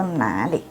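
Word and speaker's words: 哪里: Itu nali. Nali. Dengarkan depannya itu na, ke bawah. Nali. Jangan nali. Kalau dibacanya nah, itu artinya di situ.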